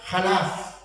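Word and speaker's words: חלף: Y la palabra renovar en hebreo se pronuncia Jalaf.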